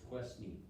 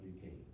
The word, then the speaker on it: Duquesne: looks like fort just questney i thought it's a french word so it's pronounced fort duquesne now it's under the